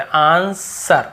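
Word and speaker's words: answer: guide ए sorry देखेंगे आंसर हमें आंसर नहीं पढ़ने व नहीं पढ़ने आंसर बस आंसर जवाब फिर देखिए वो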